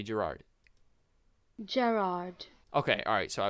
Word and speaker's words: Gerard: Just say Gerard.